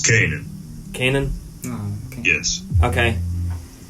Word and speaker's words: Canaan: lived in Israel, and I guess what they pronounce it, Canaan or Canaan. And Joseph, he was the son of Jacob. It's Canaan.